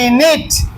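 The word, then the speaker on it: knit: K N I T নিট।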